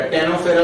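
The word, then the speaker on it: Ctenophora: और स्टेनोफेरा, टेनोफेरा भी कहते हैं, सी साइलेंट हो जाता है तो टेनोफेरा भी कह देते हैं, ठीक है।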